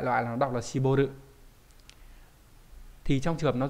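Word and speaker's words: 絞る: gì rồi, nhưng mà đại loại là nó đọc là Shiboru.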